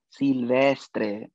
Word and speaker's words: Silvestre: It's pronounced Silvestre, Belleza.